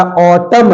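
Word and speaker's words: autumn: बारे में क्या है तो एन is silent after M it means when ever A comes after a A become silent okay जब कभी भी एम लेटर के तुरंत बाद एन आ जाएगा तो वहां पर हमारा एन साइलेंट हो जाएगा जैसे देखते हैं बेटा ए यू टी यू एम ए ये हमारा ऑटम नहीं है ये हमारा ऑटम है ऑटम ना नहीं आएगा ऑटम नहीं केवल ऑटम है ओके सी ओ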